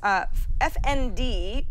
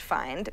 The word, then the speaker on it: FND: He says, FND, which I guess is pronounced find, makes it easier to quickly search and navigate the App Store and the iTunes Store in general.